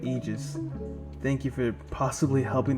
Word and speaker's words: Aegis: Aegis is a word of the Greek origin, and it's pronounced Aegis, not Aegis.